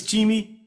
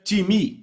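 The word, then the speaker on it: τιμή: em português pronunciamos talvez time não se pronuncia dessa forma em grego se pronuncia time repita um time ok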